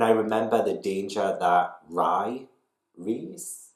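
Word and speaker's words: Rhy: remember the danger that rye reads right right i think his name's ry that's the way to pronounce it i remember the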